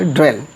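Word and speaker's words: dwell: ड्वेल, ड्वेल, ड्वेल, यहाँ पे डी का आधा उच्चारण होगा, ड्वेल।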